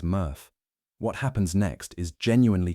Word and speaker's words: MRF: When your recycling truck dumps its load at a materials recovery facility or MRF, which everyone in the industry pronounces murf, what happens next is genuinely kind of amazing.